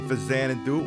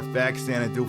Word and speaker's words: Faxanadu: We're playing Faxanadu or Faxanadu for the NES. Faxanadu. Both pronunciations are correct, and the wing boots are about to run out.